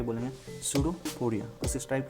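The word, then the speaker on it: pseudopodia: उस टाइप के स्ट्रक्चर को ये बोलेंगे सूडोपोडिया। उस टाइप के स्ट्रक्चर को क्या बोलेंगे, सूडोपोडिया। ओके, सूडोपोडिया, ये सूडोपोडिया नहीं है, सूडोपोडिया, बी साइलेंट है यहाँ पर।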